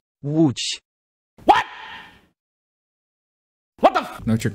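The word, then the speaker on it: Łódź: letters as well and people just don't know how to pronounce it wooch what what the no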